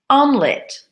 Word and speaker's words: omelet: have a group of words that are 3 syllables that we squish to 2 syllables. Make that arrow clearer. The next word, maybe it's a word you don't know so well. Omelet, omelet.